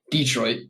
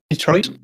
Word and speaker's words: Detroit: Detroit. Yeah, you're putting too much emphasis on the E. So. Paul, say Detroit. Detroit? Detroit?